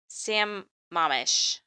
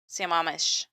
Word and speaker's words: Sammamish: I'm going to mispronounce this because I heard it's pronounced like a lot of times today. It's Sammamish. No, I think I said that right. Sammamish.